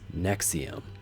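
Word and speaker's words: NXIVM: is they own the purple pill which is nexium and that is how you pronounce NX IV m in connection with Keith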